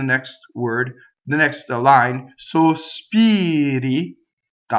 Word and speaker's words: sospiri: If it's surrounded by vowels, it flips.